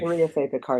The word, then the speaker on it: Maria Fe Picar: Maria Fay Picar is good.